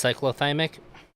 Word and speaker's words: cyclothymic: have difficulty tolerating stress probably pronounce cyclothymic God damn it it's cyclothymic yeah not used to the